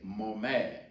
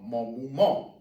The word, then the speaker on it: maman: Now, when we say mother and father, there are pronunciations that vary. When we say mother, some would say maman, maman, or mon maman, mon maman.